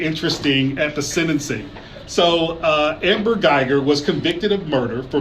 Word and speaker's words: Amber Geiger: So Amber Geiger. Am I pronouncing her name right? Yes. Amber Geiger.